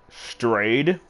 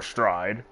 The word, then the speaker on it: Straid: yeah, like, how you spell it is, like, STRAID. People will assume it's stray, but it's stride, but you can say it either way.